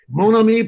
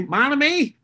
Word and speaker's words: Monami: company did i pronounce that productions very well pronounced monomi productions orders in the midwest they would say monami entertainment um and you really do wear several